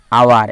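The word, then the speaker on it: hour: এখানে হয়ে গেছে অ্যান আওয়ার, 1 ঘন্টা। এই যে আওয়ার বললাম, এখানে এইচের উচ্চারণ করলাম না, তাই এইচ সাইলেন্ট থাকার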